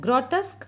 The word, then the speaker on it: grotesque: learn it qu e for this you can have imaginary K while speaking so it is pronounced ad growl tusks okay he had grotesque means ugly ugly okay